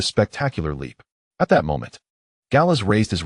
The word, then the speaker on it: Gallas: Correction noted, "It's Gallas, not Gallas." as the finals is silent in French and I had forgotten he was a French player.